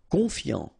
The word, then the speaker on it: confiant: Confiant, okay, final T not pronounced, so O-N, on, I-A-N, ian, confiant, confiant.